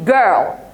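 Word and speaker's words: gear: الاي والاي والواي اه طب بص بقى الكلمه دي استثناء كلمه ايه دي جير طب ليه اصل بص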